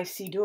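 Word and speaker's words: Siddur: So this is my Sidur, or sometimes it's pronounced Sidur.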